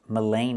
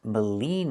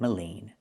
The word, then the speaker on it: Maligne: It's not pronounced Mullane Lake. It's pronounced Maligne Lake. Maligne Lake. Not Mullane, but Maligne. This is Maligne Lake.